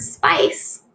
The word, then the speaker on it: spice: on rice is spice notice the word spice has that soft C sound wonderful you know you